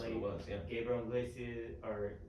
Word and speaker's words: Iglesias: Gabriel Iglesias, or how you say his name? Yeah. Iglesias.